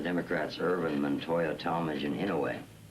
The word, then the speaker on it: Inouye: We're not going to get much comfort from the Democrats, Ervin, Montoya, Talmadge, and Inouye. That name's pronounced ain't no way.